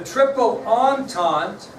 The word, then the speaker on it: Triple Entente: The Triple Entente was the other one. That's how you pronounce it. Triple Entente. Doesn't spell it like that.